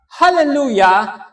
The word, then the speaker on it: Hallelujah: At ang salitang hallelujah ay may tatlong pantig. Okay? Hallel, lu, at ya.